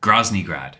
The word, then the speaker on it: Groznygrad: How do you pronounce it? Groznygrad.